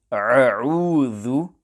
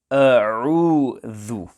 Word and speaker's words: أعوذ: When pronouncing the word a'udhu, it is important that the hamza and the ain are pronounced clearly and separately. At times, some pupils pronounce the letter hamza as ain and say a'udhu, or the ain is pronounced as hamza, a'udhu, etc. In conclusion, there is confusion between hamza and ain, hence care must be taken to ensure that hamza and ain are pronounced clearly and separately. The correct pronunciation will be a'udhu.